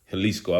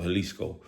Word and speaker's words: Jalisco: And um, Jaliscoco, Helisco, I mean, you know, the J is pretty much silent. Uh, pronounced like a H, you know, pretty much Mexico. So, Helisco.